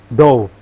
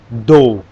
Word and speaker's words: dough: Kalau dough itu bacanya dough, dough, adonan. Dough itu adonan kan? Ya, adonan. Dough, bacanya dough.